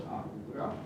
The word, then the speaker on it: Ahura: Now the fashion developed that the Iranians mostly use the word Asura, which in their pronunciation becomes Ahura, whereas the Vedic people use more Deva, or in Iranian Daiva.